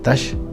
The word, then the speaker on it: Tax: a la vez taxes un apellido de origen maya en alta verapaz en totonicapán quetzaltenango se pronuncia touch simón touch de manera